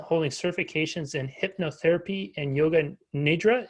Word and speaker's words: yoga nidra: She's passionate about wellness, self-care, and spiritual development, holding certifications in hypnotherapy and yoga nidra. Is that how you say it, Kim? Yeah, yoga nidra.